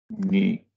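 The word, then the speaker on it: ν: O y se pronuncia como ni, né? O alemão com um alto aqui, né? I, né? Ni. Isso corresponde ao nosso N.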